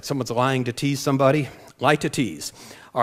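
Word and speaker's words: litotes: l i t o t s and it's pronounced lie to tease lie to tease like someone's lying to tease somebody lie to tease all right here's the figure of speech that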